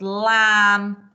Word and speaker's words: lamb: silent w we've got lamb and num which are silent b's so can you sort